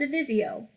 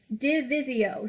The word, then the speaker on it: divisio: And then step 3 is called divisio. Divisio. Spell it like division without the N.